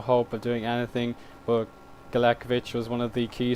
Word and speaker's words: Galekovic: Now, through all his time at my club, I always pronounce his name wrong. I said Galekovic, but it's Galekovic.